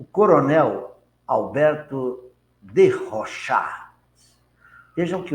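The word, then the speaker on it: Rochas: Alberto de Rochat, é a pronúncia em francês, nasceu em 20 de maio, desencarnou em 2 de setembro de 14, na Primeira Guerra.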